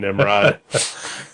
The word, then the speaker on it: Nimrod: It was written by one Nimrod. Is that how you pronounce his name? I would guess so. It's spelled Nimrod.